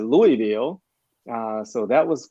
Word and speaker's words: Louisville: people uh finding out how to correctly pronounce louisville because in nashville we pronounced it louisville uh so that was